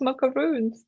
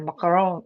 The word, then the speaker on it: macaron: Look at him, it's so cute, and he likes macaroons. That's so cute. Wait, I said it wrong. Bob said a macaron.